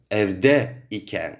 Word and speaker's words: evde iken: «Evde iken» и ставлю поэтому два ударения.